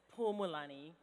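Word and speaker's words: Phumulani: It's Pumulani. So the H is silent.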